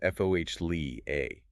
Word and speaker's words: foliage: It should be pronounced fo lee a.